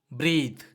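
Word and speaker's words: breath: சுவாசி பிரீத் பிரீத். ஸோ இதை நம்ம பிரீத் அப்படின்னு சொல்லி தான் நம்ம ப்ரொனவுன்ஸ் பண்ணுவோம்.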